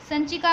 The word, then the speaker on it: संचिका: लिखेंगे ए file, FILE, जिसका pronunciation ये जो है वो स के ऊपर डॉट है वैसा समझना है, इसलिए प्रोनाउंस करेंगे संचिका, ओके, संचिका।